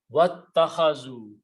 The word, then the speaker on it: wattakhazu: So when you combine with waw, you pronounce wattakhazu, and they have taken.